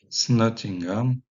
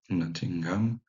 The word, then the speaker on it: Nottingham: Nottingham, qui était donc l'origine de Nottingham.